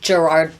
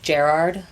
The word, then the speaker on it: Gerard: I say it the American Valley Girl way, Gerard Butler. But Okay. the Scots say Gerard.